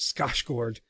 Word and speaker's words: Skarsgård: they would have been anyway yeah and those skarsgård as penny wise or if I'm gonna be proper pronunciation eared Scottish chord yeah yes he's he's really good if a